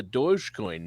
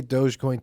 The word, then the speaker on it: Dogecoin: I mean, I say Dogecoin too, but when you spell it, isn't it dog e coin, like doggy coin?